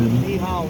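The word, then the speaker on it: Nyhavn: Yes, I will practice the Danish word with the Ni Hao. And it's spelled Nyhaen. So the Ny part, that means new, and Haven is harbor in Danish. Ni Hao. Just like København.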